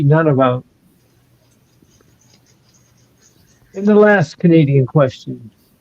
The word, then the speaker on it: Nunavut: Nunavut. Did I pronounce it, Michael? Nunavut? It's none of it. None of it.